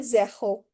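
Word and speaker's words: zéro: Zero is called zaho.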